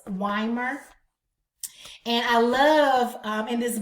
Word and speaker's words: Weimer: And I want you to get your hands on a book called Learning-Centered Teaching by Mary Ellen, I believe her last name is pronounced Weimer.